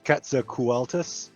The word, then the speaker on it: Quetzalcoatlus: Shelly, I can never pronounce this, but my son says it's Quetzalcoatlus, does a circle around the town to make